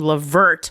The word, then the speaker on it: Levert: French Medical Professional named Levert which sounds which rhymes with perverts for the record oh